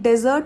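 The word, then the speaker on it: desert: अब एक डेजर्ट होता है विद ओनली वन एस. इसे हम प्रोनाउंस करते हैं डेजर्ट which is arid land, मतलब रेगिस्तान. सो सबसे पहले फ़र्क पता होना चाहिए डेजर्ट एंड डिज़र्ट. Sweet dish को बोलेंगे डिज़र्ट, रेगिस्तान को बोलेंगे डेजर्ट. अब लोग क्या करते हैं?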